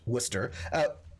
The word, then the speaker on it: Worcester: We have Worcester, pronounced Worcester. I'm in New England, so we also have a Worcester, or a Worcester.